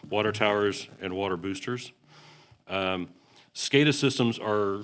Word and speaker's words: SCADA: department any discussion you're wondering the term it's pronounced scada as our as our acronym forward that stands